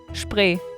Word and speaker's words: Spree: Spree. It's spree, guys. So it's spree. But say it again. Spree.